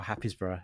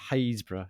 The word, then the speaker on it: Happisburgh: Happisburgh. Yeah, but it's pronounced Haysborough.